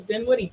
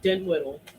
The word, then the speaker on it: Dinwiddie: Google pronounces Dinwiddie Dinwiddle. It's the funniest fucking shit. Yeah, we'll be driving down the road if we're using the Google Maps voice. She'll go, Dinwiddle. Yeah, she does do Dinwiddle.